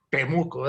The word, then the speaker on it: Temuco: ¿Cómo se dice? Temuco. Temuco. Temuco, exacto.